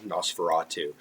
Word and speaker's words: NOS4A2: He also did it in his previous novel, Nosferatu. That is spelled Nos4A2.